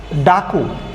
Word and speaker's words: ডাক: আর যদি আমরা এরকম হর্ষ চিহ্ন দিয়ে লিখি তাহলে এই কয়ের সাথে ওর উচ্চারণ হবে না। কয়ের সাথে ও উচ্চারণ হবে না বলতে যদি আপনি উচ্চারণটা আবার লিখতে চান, যদি সঠিক উচ্চারণ লিখতে চান তাহলে আপনাকে এখানে লিখতে হচ্ছে ডাক।